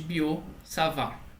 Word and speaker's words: Biot-Savart: gente essa lei de Boo salvar é compra dois francês que você não pronuncia nenhum ter no final de cada um dos não sabe ou